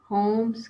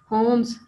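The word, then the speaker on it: Holmes: होम्स, एल इसमें silent है, अभी हमने इसकी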